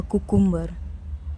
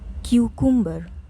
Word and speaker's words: cucumber: When buying vegetables, please don't ask the shopkeeper for a cucumber. It's cucumber. Cucumber.